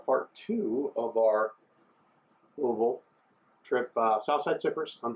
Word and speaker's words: Louisville: we were mispronouncing it not Louisville not Louisville Louisville like got a bag of marbles in your mouth so yeah historic building